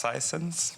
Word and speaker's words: Sisense: First of all, it's actually pronounced Sisense, but I'll forgive you. You're not the first one doing that mistake, so don't worry about it.